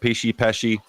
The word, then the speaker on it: Pesci: Joel Pesci, I think that's how you say it. Pesci. You can't say that name wrong.